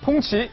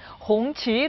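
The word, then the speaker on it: 红旗: 숨겨진 이야기 세 번째입니다 차이나 14억 내륙의 벤틀리 풍치 이거 발음 어떻게 합니까 지자님 풍치 봉치 봉치 아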